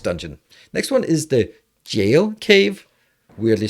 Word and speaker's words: Gaol: So into the Gaol Cave. Man, it has bothered me a long time that it's pronounced jail when it's spelled like that, but it is.